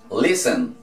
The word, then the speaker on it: listen: Entonces, para nosotros decir escuchar, vamos a decir listen, no listen, ok, entonces la T es muda.